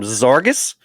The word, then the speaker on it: Zarges: we also have uh ryan from zargas and if you didn't know how to pronounce it that's how you pronounce it zarks case has